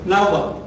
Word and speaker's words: náhuatl: De modo que el nombre de este grupo es náhuatl. Así, náhuatl, y las mujeres casi pronunciaban como F, náhuatl.